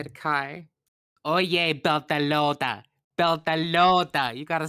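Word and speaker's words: Beltalowda: Beltalota.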